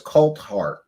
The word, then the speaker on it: Coulthart: Yes, his name is Coltart. Did I Did I say it wrong? I always say Colart or Colt Fart.